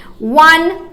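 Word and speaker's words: one: बता रही हूं पहले वन ठीक है ना वन जब मैं लिखती हूं तो ये इंग्लिश में इसको हम लोग क्या बोल रहे हैं व ओ बोल रहे हैं लेकिन जब हिंदी में जब उच्चारण कर रहे हैं तो एक्चुअली में ये डब्लू को प्रोनाउंस किया जाता है ठीक है ना उच्चारण एक्चुअल में किसका आता है डब्लू का आता है एंड डब्लू क्या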